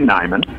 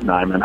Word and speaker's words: Niman: thing I'll need to do is correct correct pronunciation it's actually Nyon okay I'll just whack my hand where n